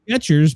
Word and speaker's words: Skechers: And we knew it was Skechers, but apparently there's no T.